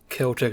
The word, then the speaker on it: Celtic: Celtic, not Celtic.